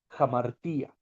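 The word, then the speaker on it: ἁμαρτία: Y la palabra principal que usa el Nuevo Testamento es un sustantivo griego, jamartía. Jamartía se escribe con H, pero su fonética es con J.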